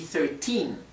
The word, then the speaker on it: thirteen: trata de pronunciar claramente si es 13 pronunciar el acento va en la en la última sílaba y se produce a